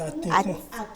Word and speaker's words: Atikpon: J'ai bien prononcé, c'est Atikpon. Oui, c'est Atikpon. C'est Ati ou Atikpon? Bon, la prononciation même, c'est Atikpon.